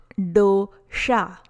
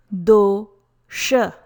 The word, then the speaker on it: dosha: Pronunciation is not dosha. It is not dosha. Correct pronunciation is dosha. Letter D is a soft dental sound, the sound.